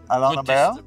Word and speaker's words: Alain Lambert: we're here with Prismo Metals and the CEO, Alain Lambert. Good to see you, Bjorn.